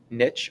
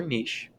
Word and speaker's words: niche: niche or a niche this term can be pronounced either way niche or niche and a niche or